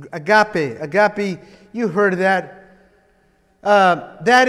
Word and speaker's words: agape: That word agape, I'm saying it in the Greek, you know, the Greek word, not just because I'm Hispanic and I have an accent, but it actually does, it's pronounced E, agape.